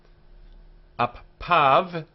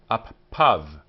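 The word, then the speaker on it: אַפָּיו: Appav, his nostrils. We pronounce this as av, av, and this yud is ignored.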